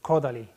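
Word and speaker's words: Kodály: it this way it's it's the Hungarian language they always acts in the first syllable béla bartók Zoltan Kodaly Tarara it's a character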